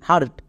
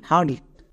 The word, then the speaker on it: heart: এবার একসঙ্গে উচ্চারণ করো, HEART হার্ট। সো এখানে একটা কথা মনে রাখবা, EAR এই তিনটার জন্য একত্রে উচ্চারণ হয় আর, যেমন HEART হার্ট।